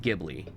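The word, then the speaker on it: Ghibli: of us pronounce it gibli all right I you can pronounce that either way because there's an H after it also that's a proper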